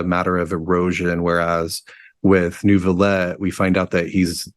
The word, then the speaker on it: Neuvillette: I know, like, half of the characters say Nouvellette. There's no R.